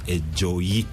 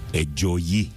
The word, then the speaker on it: Ejoyi: That is right, but the second name is Ejoyi. Ejoyi. Mm-hmm. Okay. So you must put the stress on Oyi, Ejoyi.